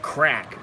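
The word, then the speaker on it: craic: Pronounced crack. Means fun.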